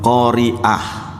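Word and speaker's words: قارئة: Lah kalau pembacanya perempuan namanya qari'ah. Cuma pakai hamzah itu. Yang hari kiamat itu adalah Al-Qari'ah pakai ain. Makanya memang harus akurat. Seorang penceramah, seorang ustadz memang bahasa Arabnya harus lumayan bekalnya ada.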